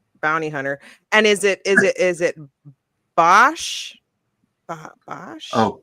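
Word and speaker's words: Boushh: And is it Bosch? Bosch? Oh, Boosh, the one that Leia was?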